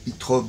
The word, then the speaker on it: Zoetrope: Zoetrope, mais il faut le prononcer Zoetrope de Chicago, le hardcore street metal de Zoetrope.